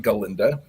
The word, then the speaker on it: Galinda: And in the movie, it's or in the Broadway show, it's pronounced Galinda.